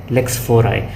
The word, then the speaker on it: lex fori: Lex fori इसका actual pronunciation यही है, lex fori.